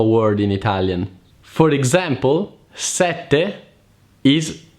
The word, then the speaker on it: sette: In order to pronounce the double consonants the right way, remember that there is always a pause in there. Imagine the word is split in two. Set, te.